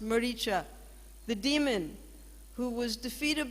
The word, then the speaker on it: Maricha: that suicide and then he said murica is how he pronounced maricha the demon who was